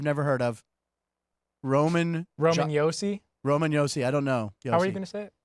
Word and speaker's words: Roman Josi: I said Roman Josie. Yeah, Roman Yosi. It's Yosi.